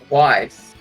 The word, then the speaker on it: Weiss: Yes, and when we last left off, hey Krogia, David is going on a date with Don't Tell Me, Weiss. That is the correct way to pronounce it, but I don't think we have any dates yet.